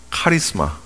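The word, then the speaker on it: χάρισμα: 은사 라고 번역을 했지만 이 은사의 원어는 어떻게 발음을 하냐면 우리가 너무나도 잘 알아요 카리스마 역 저사람 카리스마가 있는데 할 때 쓰는 그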